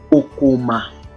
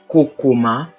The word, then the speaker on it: kokoma: The next word is Kokoma, Kokoma, or Kokoma, Kokoma. So we have the same spelling, different pronunciation and different meaning.